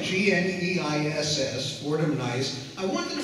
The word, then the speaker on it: Gneiss: But it's, tell us a bit about how you decided on the Fordham Gneiss. Am I pronouncing that? That is right. G-N-E-I-S-S, Fordham Gneiss.